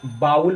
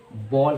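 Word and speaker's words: bowl: ज़्यादातर लोग इसको बाउल पढ़ते हैं, तो बाउल नहीं कहना है, बॉल कहना है। जी हाँ, बॉल।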